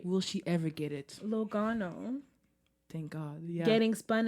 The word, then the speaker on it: Logano: It's Logano. Yo, his name is It's three syllable.